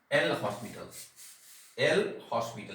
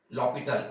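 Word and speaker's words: L'Hôpital: एल हॉस्पिटल लिखते हैं, एल हॉस्पिटल पढ़ते हैं लॉपिटल, एच यहाँ साइलेंट है।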